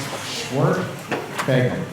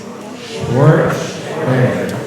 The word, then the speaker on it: Schwerdtfeger: If you guys are curious how to pronounce my last name, it's pronounced Schwerdtfeger. Okay, come on, guys. Schwerdtfeger.